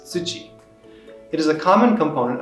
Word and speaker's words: 土: ground or soil and its other reading is tsuchi it is a common